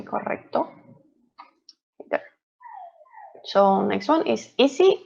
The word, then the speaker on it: correcto: roll the tongue when we have the double r so it's correct so we have to say correcto so next one is